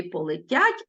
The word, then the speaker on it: полетять: кульбабу Ну і полетять Зверніть увагу що у слові полетять е в нас без наголосу тому ми відчуваємо і дописуємо вимові у слові полетять е наближається до и він ми його